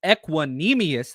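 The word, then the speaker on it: Equanimeous: I've been working on his pronunciation. Equanimous. There we go.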